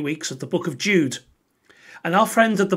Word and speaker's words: Judah: let's watch this together the letter of jude or more accurately judah according to the pronunciation of his name both in greek and in hebrew judah was one of